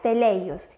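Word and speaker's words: τέλειος: Si vamos al griego, a mí me causa mucha curiosidad que hay un verbo que se escribe o se me pronuncia teleios, que nos quiere decir perfecto.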